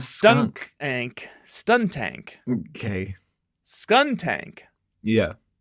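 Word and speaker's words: Skuntank: okay scun tank yeah scun tank like skunk that's what I said the first time and you corrected me I think everyone stun tank skun tank a skunk and it turns out I said it right the first time you wrote stun tank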